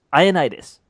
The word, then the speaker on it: Ioannidis: Matt Ioannidis, not Ioannidis. Iodinus. Yeah. I think that's his favorite way to go. It's Ioannidis.